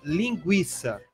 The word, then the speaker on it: linguiça: Caiu mas o trema. Continua se pronunciando. Lógico. Um aluno até me perguntou, professora, se tira o trema, eu vou pronunciar linguiça? Eu falei, não. Porque você já pronunciava linguiça antes de colocar o trema.